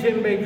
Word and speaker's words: djembe: This drum is called D-J-E-M-B-E. D-J-E-M-B-E. Djembe, that's how it's pronounced.